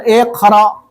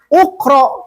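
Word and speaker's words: اقْرَأْ: tidak bisa bacanya seperti sepertinya ini ukro kan tidak ukro I dari mana i dari Ain fi'ilnya Ain fi'ilnya kan jadi iqra iqra usjud nah antara u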